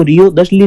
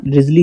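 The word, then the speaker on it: Wriothesley: देखिए, रिजली की स्पेलिंग ना अलग होगी थोड़ी, लेकिन उसका प्रोनाउंसिएशन अलग होगा। इनको रियो दशली नहीं पढ़ना है, इनका रिजली ही पढ़ना है, हेनरी रिजली।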